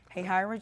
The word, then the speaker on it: Hahira: grown she's from the small rural town of Hahira Georgia I finally learned how to pronounce that hey Hira Georgia which is near it's a very small